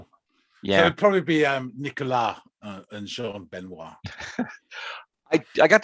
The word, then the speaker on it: Nicolas: it'd probably be Nicolas and Jean Benoit. I got the Jean Benoit. Yeah. Or maybe I said Jean Benoit. Yeah. And Nicolas. So you don't actually pronounce the S.